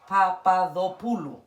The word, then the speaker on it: Papadopoulou: Papadopoulou.